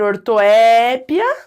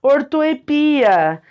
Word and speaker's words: ortoépia: são aceitas mesma coisa a própria palavra ortoépia que pode ser ortoépia ou pode ser ortoepia ou foca ali no iato ou então Foca no ditongo tá também uma questão de paro ou de oxítona as duas formas são aceitas Então vamos lembrar existe